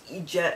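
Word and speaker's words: eejit: It's Egypt. And it looks, how it's pronounced is when you see it, it's E-E-D-J-I-T, right? But it's pronounced Egypt as in E-E-G-I-T, and it means idiot.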